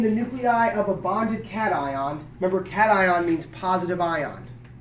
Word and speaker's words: cation: Not a cation. Not a vacation. Not a vacation. Not a vacation. I don't know how you say it, but it's not that.